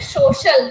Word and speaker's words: social: You are saying social. Don't say show. Social.